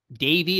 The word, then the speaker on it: Davy: Davy is spelled D-A-V-Y, no E there, and Graham, Graham.